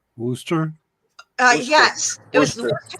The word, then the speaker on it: Worcester: Everybody pronounces the name of it wrong. Worcester.